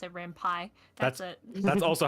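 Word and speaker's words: Ren'Py: That's also how I pronounce it. That's how it makes sense in my brain. Rampai is probably correct because I mean the P is Python. So that's probably a better way of saying it.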